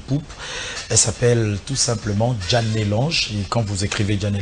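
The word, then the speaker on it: Djanel'ange: Elle s'appelle tout simplement Janet Lange.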